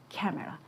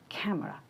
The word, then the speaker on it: camera: pronunciation will be like camera, camera. So you can notice here the schwa sound, which is almost neutral.